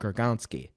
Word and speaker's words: Gronkowski: his binky as Rob Gronkowski. Come on, you can pronounce a Polish name better than that. I know you. Gronkowski. Yes, there we go.